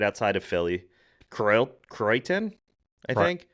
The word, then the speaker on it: Croydon: Croydon, I think. Crichton. Crofton. No, Croydon.